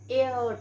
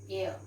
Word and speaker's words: heir: then he is an heir to the throne he is and so at inside we pronounce it as air air means goddess okay